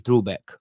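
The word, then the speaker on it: Dovbyk: that the signing of I think I want to pronounce it as Drubek. I've run it through a few how to pronounce websites, and that's what they've said.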